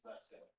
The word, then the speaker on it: Vasco: Just for future reference, it's Vesco. Vesco. Broline Haley on the mound. Sounds different than spell. What is it? Vesco. Vasco up to bat. The writing of it is the same. The pronunciation is Vesco.